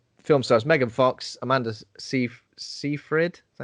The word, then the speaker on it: Seyfried: Film stars Megan Fox, Amanda Seyfried. Is that how you say it? Oh, no, don't ever said that name out loud. Sorry, Seyfried. Right, Seyfried.